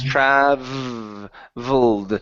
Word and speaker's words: traveled: It's traveled. Traveled. Troubled. Okay. Troubled. Almost. So if you pronounce a B, it almost sounds like you're saying trouble. Troubled. Okay, but it's a V sound, so it's a vibration.